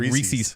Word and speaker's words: Reese's: It's like Reese's Pieces. It rhymes with feces.